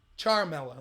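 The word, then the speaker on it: Ciaramella: the NC did leak eric Caramella charmella that's how you say its name by the way my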